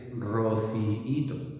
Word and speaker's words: rociíto: Si queremos hacerlo bien, tenemos que hacer una pequeña pausa y esa misma pausa es la que nos forma el hiato. Dehesa, rociíto, ¿vale?